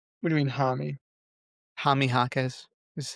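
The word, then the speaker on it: Jaime: the Jamie Jaquez resurgence. Good job by Is now you. the time to tell you that his name is Hami? What do you mean, Hami? Hami Jaquez is how you pronounce it, but it's fine.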